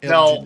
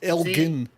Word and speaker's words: Elgin: It's a hard G. It's not Elgin. It's Elgin.